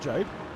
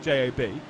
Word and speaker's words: Job: Because obviously it's just J-O-B, and so a lot of people are just like, well, surely it's Sebastian Job. You're saying his name wrong, Sebastian Job. I'm like, he says Sebastian Job.